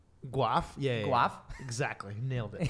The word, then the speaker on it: Guelph: I grew up in a small city called Guelph. Wait, that sounds made up. Yeah. Guelph? It's like Guelph. Yeah. Guelph?